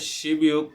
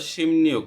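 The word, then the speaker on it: 십육: শুরু করি এখানে আমরা এর উচ্চারণটা হবে শিবয়ুক না বলে আমরা শিম নিয়োগ শিম নিয়োগ উচ্চারণ করব এর 16 অধ্যায় মানে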